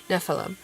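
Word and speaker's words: Nephalem: he's a Nephilim and I'm going to pronounce it like Nephilim but like you know n e p h a l e m Nephilim so semi is technically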